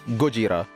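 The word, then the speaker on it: ゴジラ: character's inspiration was Godzilla, which is in Japanese pronounced as Gojira, hence Fubura.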